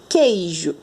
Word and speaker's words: queijo: Quando eu falo queijo, pronuncia aí com a Pro. Queijo. Presta atenção. Você consegue ouvir o som do U? Não.